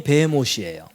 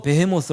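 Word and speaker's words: בהמות: 못이라고 해 놨어요 왜냐면 히브리어 원문이 이거거든요 요거 발음이 베헤못이에요 그래 갖고 영어 성경도 베헤모스 아고 해놨어요 그래갖고 여러분 제가 뭐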